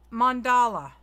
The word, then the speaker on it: mandala: Mandala. It's like M-O-N Dala. That's how you say it, Amanda.